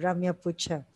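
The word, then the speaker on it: Ramya Putcha: That's how she pronounces. So I'm having to say Ramya Pucha.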